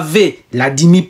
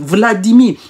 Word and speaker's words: Vladimir: Vous ne dites pas V, Vladimir Poutine. Non, vous dites Vladimir.